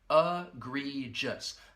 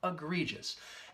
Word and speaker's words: egregious: at the pronunciation because this word has three syllables and the first and third syllable will have that schwa sound that uh sound egregious that second syllable has the long e sound egregious and egregious it's a